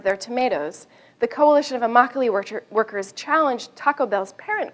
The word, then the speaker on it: Immokalee: in south florida called the immokalee workers rhymes with broccoli gained international significance by